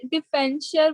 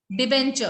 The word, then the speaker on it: debenture: Ma'am but अभी आपने डिफेंचर word बोला ना डिबेंचर, हाँ जी, मैम, मेरे को प्रोनाउंस करना दोबारा। डिबेंचर, DEBENTURE, डिबेंचर।